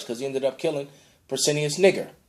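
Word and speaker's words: Pescennius Niger: he ended up killing Persinius Niger, because that's how it's actually pronounced, and got dominion over the Roman Empire, which is basically shortly after.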